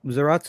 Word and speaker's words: Zaratsu: yeah yeah um so zaratsu is a very interesting outlier it's a it's a japanese pronunciation of zalas and it's become its own thing it's ratsu um keeping